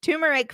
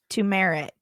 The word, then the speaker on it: turmeric: no here we go turmeric face mask fail you say it how you would jessica you said it right instead of two mirror turmeric that's correct to merit is incorrect correct exactly okay okay